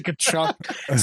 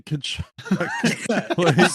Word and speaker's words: Tkachuk: Saying that he kept pronouncing the T. The silent T in Tkachuk.